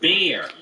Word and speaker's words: Bayer: Oh, it's pronounced beer, and it means beer.